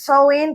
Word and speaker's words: Samhain: Sí, yo lo pondré aquí escrito porque a veces pronunciarlo no pronunciarlo es Samhain, pero tú lo ves escrito y es Samhain.